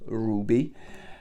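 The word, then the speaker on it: RWBY: picked up Ruby okay wrby it is pronounced Ruby um at the back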